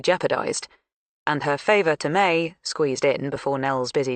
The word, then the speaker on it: Mai: With her talent for hooking any audience, May had brightened everyone's day from the first time she'd burst into the office with her effevescent greeting, spelling her name out, M ai, but pronounced like the month.